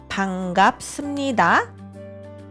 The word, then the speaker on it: 반갑습니다: Aqui, primeiro, quando você diz 반갑습니다, o 비읍 aqui é pronunciado como 미음.